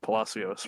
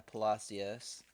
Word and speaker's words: Palacios: But first, we'll talk about how you said their name is pronounced Palacios, right? Yeah, Palacios.